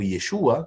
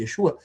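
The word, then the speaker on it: ישוע: Porque Yeshua, ou Yeshua, que é a a tradução, a pronúncia mais correta, Yesua, vai dizer que significa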